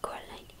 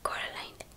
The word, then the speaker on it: Coraline: delante de la puerta principal del piso de Coraline y llegaban hasta el ático el viejo baja